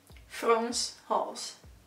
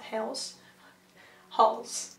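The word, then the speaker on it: Frans Hals: not the greatest anyway france halls so it's not france it's france france halls so not hell's halls you know the painting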